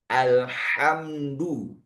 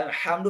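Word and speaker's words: الحمد: Ah, di antara imam yang saya temukan ini ah dia baca ha di alhamdu menjadi ha besar. Ah, itu juga makna yang salah bacanya alhamdu.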